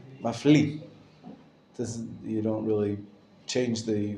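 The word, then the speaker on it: מפליא: The Aleph is silent at the end of Mafli. Mafli.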